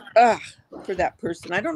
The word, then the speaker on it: UGH: How do you say, ugh for that person?